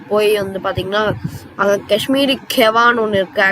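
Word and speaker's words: kahwa: அவங்க வந்து அங்கே போய் வந்து பார்த்தீங்கன்னா அங்கே காஷ்மீரி கெவான்னு ஒன்று இருக்குது. Actually that they pronounce it like அந்த மாதிரி தான் கவா அப்படின்னு சொல்லுவாங்க.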